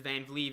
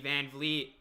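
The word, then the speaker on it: Van Vleet: hachimura he uh he misses the three here's vanvlee van vliet rolls the pass there to pal and powell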